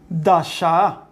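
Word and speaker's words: דשא: Por ejemplo, la palabra del verso 11 es la palabra dasha. Dasha. Voy a poner, a ver si alcanza la pronunciación.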